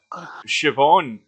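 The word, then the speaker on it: Siobhan: I mean you got you've got uh shobon I mean if you look at shobon written down in in paper and and you you think how pronounce that s i o b h n and all of this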